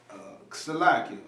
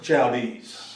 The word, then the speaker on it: Chaldees: In Babylon, the glory of kingdoms, the beauty of Shalakia. How you pronounce that? What you got? Shadines? The Chaldees.